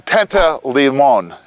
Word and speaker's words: Panteleimon: of Mount Vodna, and we've arrived at San Panteleimon. Did I pronounce that right, Alex?